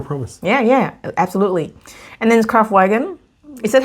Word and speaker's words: Kraftwagen: And then Kraftwagen. Is that how you say it? From Ark and Wonders? Kraftwagen, yeah.